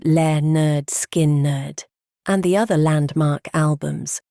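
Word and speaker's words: Lynyrd Skynyrd: services at Filillmore East and pronounced le nerd skin nerd and the other landmark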